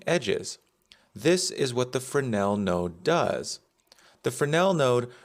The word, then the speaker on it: fresnel: click and type in f-r-e-s-n-e-l then we get fresnel the S is silent so fresnel is a